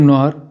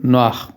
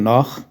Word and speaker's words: noir: Film نوار جس کو کہ فرانسیسی میں فلم نواخ کہتے ہیں، اس لیے کہ آر کو وہ لوگ غین یا خے پروناؤنس کرتے ہیں تو اس کا فرانسیسی تلفظ ہوگا فلم نواخ، لیکن انگریزی میں اس کو فلم نوار کہتے ہیں.